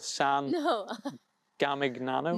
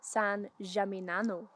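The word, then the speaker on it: San Gimignano: way to that town which Christina thinks is called San no gigano no I would say it's pronounced San jamano Sano I'll not try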